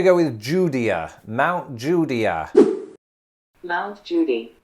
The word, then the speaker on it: Mount Judea: with judea mount judea mount judy mount judy like judge judy how do we get